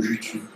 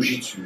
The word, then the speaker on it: jutsu: plus fréquemment c'est'ta des le mot jutsu jutsu ou Jitsu hein l'idogramme même c'est la prononciation qui est parfois différente alors par contre dans